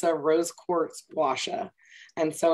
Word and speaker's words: gua sha: I mispronounced this for so long, but it's a rose quartz gua sha.